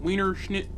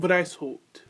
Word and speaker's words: Weishaupt: Adam Wienerschnitt. Adam White. Oh, Lord. Is that German? Wow, it is German. Wow, I should probably fucking know that. So, the founder was actually Adam Weishaupt.